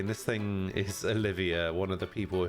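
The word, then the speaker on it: Olivier: I still anounce Olivia this name is not Oliver though it's Olivia there an eye in there Olivia you think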